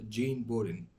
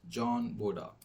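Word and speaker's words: Jean Bodin: American pronunciation which refers it to it as Jean borin whereas the French pronunciation it calls John bod well I'm going to proceed with the British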